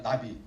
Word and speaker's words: NAVI: 근데 어쨌든 발음상으로는 그냥 나비, 윤도현의 나는 나비 같은 거 이렇게 제가 그 노래 좋아하는데 그렇게 하고요.